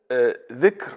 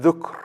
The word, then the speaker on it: dhikr: There is dhikr and dhukr. Dhikr, it means pronouncing, which is the opposite of being silent. Okay. Dhukr, which is the same root, but just a different way of saying it, it means remembering.